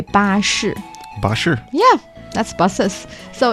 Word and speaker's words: 巴士: The easiest one sounds even like buses. You can say 巴士.